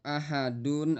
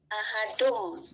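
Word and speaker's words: أَحَدٌ: Itu ahadun atau ahadum. Bacanya ahadum. Har ahadum. Iya. Harusnya ahadum. Jangan ahadun ya. Jangan disamarkan. Sekali lagi diulangin ya. Karena ini adalah e hukumnya iqlab. menukar suara apa, ba menjadi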